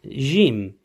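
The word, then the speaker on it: ج: The first intonation for the fathatain would sound like jen, jin, and jun. So for the fathatain, it's jen. Kasratain, it sounds like jin. And for the dhammatain, it is jun.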